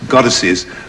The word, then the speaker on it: goddesses: oh gods and goddesses goddesses two light stresses after god this is the two